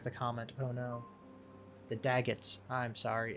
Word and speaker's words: Daggetts: sorry it's the dag it's not the b-vets that sounds like a crappy boy band The daguets or the B vets they're gonna go sing now to be vets no anyway the daggets that's how you say it right daggets are hard